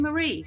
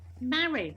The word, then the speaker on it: Mari: No, Mary. Rhymes with Harry.